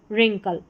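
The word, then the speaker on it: wrinkle: रिंकल तो यहां पर डब्ल्यू आर साथ में है। र हम पढ़ रहे हैं। डब्ल्यू साइलेंट है।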